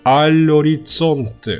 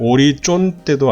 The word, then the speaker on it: orizzonte: all'orizzonte, sogno all'orizzonte. Z 두 개 발음은 오리쫀떼도 아니고 오리촌떼 아닙니다. 오리존떼 son 치읍 발음을 하다가 쌍치읍 발음으로 나가시면 되겠죠.